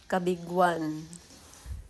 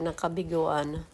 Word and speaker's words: Cabigwan: Kabigwan sa madaling salita kabiguan. Pero kung papaano mo yun i-spell letter Cabigwan ang ano ang pag-pronounce non. Sa mga baguhan pino-pronounce nila yabiguan.